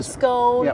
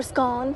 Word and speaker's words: scone: The scone or scone depending on how you say it.